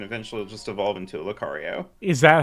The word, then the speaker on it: Lucario: rare candies and eventually just evolve into a Lucario is that how they say it yeah that's